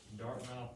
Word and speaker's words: Dartmouth: know what we're to name this dart it's pronounced dartmouth college it's one of the ivy league schools